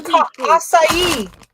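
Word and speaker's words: açaí: It's a acai.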